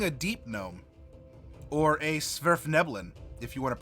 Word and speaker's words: Svirfneblin: Or a Svirfneblin, if you want to pronounce it that way.